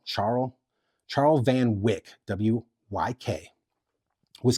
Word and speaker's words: Charl: molotop yet one man I don't know if to say his name charl or or or Carl it's ch h a l charl Charles Van Wick wyk